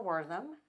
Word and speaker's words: Wortham: I'm here today with Joshua Wortham.